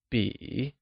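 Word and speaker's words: 笔: This is a pen translates to Zhèshìzhībǐ , where Bǐ pronounced using a falling rising tone, means pen.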